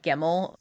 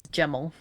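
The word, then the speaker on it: Gemmel: Also his name's not GML which is unfortunate. His name is Geml.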